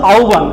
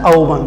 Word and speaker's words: আহ্বান: প্রিয় শিক্ষার্থীরা, এই এটাকে অনেকে উচ্চারণ করো আহ্বান বা কেউ বলে আহ্বান, এটার উচ্চারণটা কিন্তু আহ্বান। এটার উচ্চারণটা রূপ কেমন একটু খেয়াল করো, আহ্বান, এটার উচ্চারণ হচ্ছে আহ্বান।